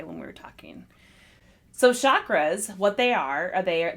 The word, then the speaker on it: chakra: on the seven main chakras yes and also there's discussion about how to say it we learned after some um education that it's ch chakra like chocolate but chakra chakra chakra so there are seven